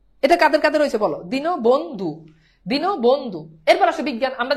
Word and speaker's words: দীনবন্ধু: এবার বলো দীনবন্ধু, এখন দীনবন্ধুতে বলো এটা কি রসই হবে? না, উচ্চারণ কিন্তু দিনবন্ধু না, তোমরা অনেকে উচ্চারণ করো দিনবন্ধু, এটা কিন্তু দীনবন্ধু।